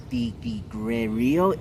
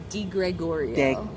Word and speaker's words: Degregorio: This is my brother from my other mother, Degregorio. Did I say it correctly? You said it the way a lot of people accidentally say it. It's Degregorio.